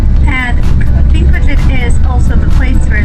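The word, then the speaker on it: Þingvellir: And the letter in the beginning of the word that looks like a P with an extra line coming out of it is pronounced TH. It's called thop. And it's a TH sound as in thing or thorn or thank you.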